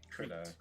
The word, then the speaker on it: Krita: Krita. However you're supposed to pronounce.